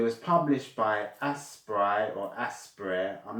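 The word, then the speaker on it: Aspyr: I think the right pronunciation for that developing company is called aspire. It was just spelled in a creative way.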